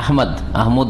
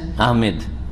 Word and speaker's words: আহমদ: আমাদের দেশে নাম উচ্চারণে কিন্তু ভুল আছে। এই যে আহমদ, এটাও ভুল। আর একটা হচ্ছে আহমেদ, ইংরেজি থেকে নেওয়া। ইংরেজিতে লিখে কি? আহমেদ লিখে MED, যার ফলে আহমেদ বলে। ভুল, আহমেদ নয়, আহমদ।